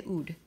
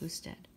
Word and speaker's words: usted: Remember, we never say ud. You can write it abbreviated, but we still have to say it like usted.